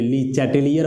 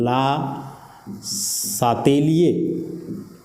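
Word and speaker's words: Le Chatelier: इसको लोग अलग अलग प्रोनाउंसिएशन देते हैं, कोई ली चैटेलियर बोलता है तो कोई ली सैटेलियर बोलता है। आप क्वेश्चन पेपर में देखोगे जो इसका हिंदी लिखा हुआ है वह है ला सातेलिए, मतलब इस आर का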